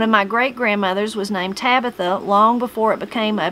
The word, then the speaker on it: Tabitha: She pronounced her name with the accent on the second syllable, unlike today's Tabithas.